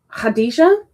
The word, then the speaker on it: Khadijah: When you're trying to say your name, Khadijah. Khadijah. Khadijah. Khadijah. Khadijah. K is silent.